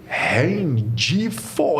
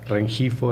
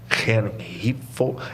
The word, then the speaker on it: Rengifo: Francisco Rendifo Herrera. Falei certo? Claro que não, né? Qual é o jeito certo de falar seu nome? Em espanhol seria Rengifo Herrera. Rengifo.